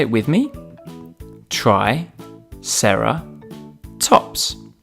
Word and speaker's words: triceratops: today triceratops try sarah tops can you say it with me try sarah tops let's learn all about triceratops triceratops was found in